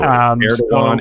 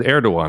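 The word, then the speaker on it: Erdoğan: So Erdogan, it's in your last name. Like, how should they pronounce that and not so look if there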